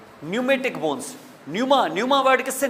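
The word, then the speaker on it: pneumatic: किससे निकला हुआ है यह पी साइलेंट हैसे आपको पता होगा यह इंग्लिश ग्रामर और इस लैंग्वेज की का उसूल है कि अगर पी के बाद कोई वल ना आए तो प साइलेंट हो जाता है बहुत सारे ऐसे साइकोलॉजी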